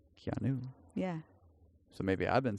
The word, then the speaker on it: Keanu: There's no O in his name. Keanu.